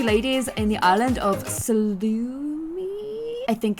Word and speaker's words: Sulani: So we are back with our beautiful two ladies in the island of Salumi. I think it's called Salumi. I want to call it salami, but it's definitely not salami.